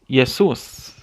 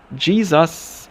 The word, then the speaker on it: Jesus: might pronounce something different for example if someone is named this in spanish they would say jesus based on the pronunciation